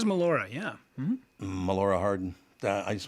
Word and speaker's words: Melora: who knows yeah uh did you pronounce her name Melora I believe it is Melora yeah Melora Harden I